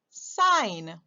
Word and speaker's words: sign: o i g h the g is silent let's call the word